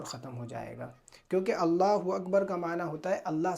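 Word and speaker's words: الله أكبر: تلفظ کا غلط بولنا۔ اگر بندہ اللہ اکبر میں اللہ کے الف کو کھینچتا ہے یا اکبر کے الف کو کھینچتا ہے تو معنی اور مفہوم بدل جاتا ہے، جس سے نماز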